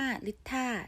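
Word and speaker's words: Litha: วัน นึง เลย นะ แม่ หมอ เรียก ว่า ลิตร ถ้า นะ คะ สะกด เป็น l i t h a นะ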